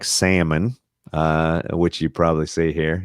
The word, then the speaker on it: Salmon: My family pronounce it Salmon, and I think it's so that we feel classy.